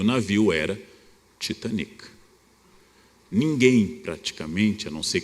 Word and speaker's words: Titanic: disse afundou o titanic essa pronúncia existe até hoje ora é um navio britânico não há nenhum motivo para chamar o navio inglês de titanic eu digo inglês o dia em português porque é que opto por pronunciar de forma francófona porque toda elite brasileira falava francês éramos todos os francófonos e o navio era